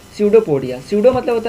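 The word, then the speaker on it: pseudopodia: तो देखो इसका फिक्स्ड नहीं होने का वजह है स्यूडोपोडिया, यहाँ पर पी साइलेंट होता है याद रखना, स्यूडोपोडिया।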